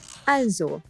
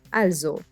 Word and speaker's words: also: I just wanted to give you a quick intro to also, meaning well or therefore. Also, also, also, also. The S is pronounced as Z.